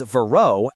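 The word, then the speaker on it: Verreaux: As far as I can tell, the correct way to say it is Vero as in plateau.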